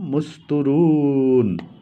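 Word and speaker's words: مستورا: ইউমিনুনা বিল আখিরাতি হিজাবাম মুস্তুরুন, কি লিখছে হিজাবাম মুস্তুরা, হিজাবাম মুস্তুরা, উচ্চারণটা হবে মুস্তুর যদি থামেন, ওয়াকফ করেন।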